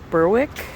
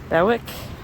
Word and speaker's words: Berwick: is the beast of berwick berwick spelled like besswick but they don't pronounce it that way um anyway the narrator